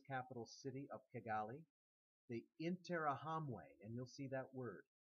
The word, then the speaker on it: Interahamwe: city of kagali the interahamwe and you'll see that word interahamwe on your graphic organizer uh it's spelled it in in r a m we which means those who strike as one intra hamway an anti-tutsi Youth Organization